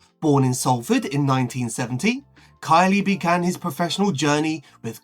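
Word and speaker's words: Kiely: Goalkeeper Dean Kylie. Turns out he's not pronounced Keley.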